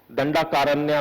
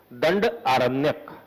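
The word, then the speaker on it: दंडारण्य: दंडाकारण्य बोल देते हैं लोग इसे, बट the actual pronunciation is दंड आरण्यक.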